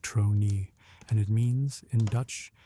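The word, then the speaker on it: tronie: It is pronounced something like trroni and it means in Dutch simply face or more precisely facial expression the look on a face.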